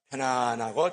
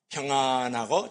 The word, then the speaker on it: 평안: 우리 다 같이 시작 편안하고 장애가 없다 우리 다 같이 시작 평안하고 장애가 없다 편안이 아니에요 평 아이라고 읽어야 돼요 다시 한번 시작 평안하고